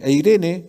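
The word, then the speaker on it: εἰρήνη: la palabra ya que puede ser como se pronuncia eh eirene prosperidad y que también derive de deriva de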